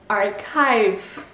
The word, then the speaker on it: archive: La transcription, je vous la mets là et ça se prononce archive. Archive. Donc le CH devient un K et le I diphtongue, donc archive.